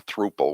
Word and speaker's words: throuple: She was in a throuple or a thruple, whatever you call it. That's a thruple. Thruple. Rhymes with couple.